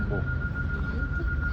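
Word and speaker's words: beau: Czyta się bu. Masz trzy samogłoski. B, E, A, U, a to bu.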